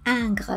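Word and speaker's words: Ingres: 90 pounds in weight and it is called anger paper which is spelt i-n-g-r-e-s after john august anger who worked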